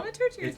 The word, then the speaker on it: thaumaturgy: Yeah, you can just spell it. I cast the Maturgy. Is I'll it make thaumaturgy?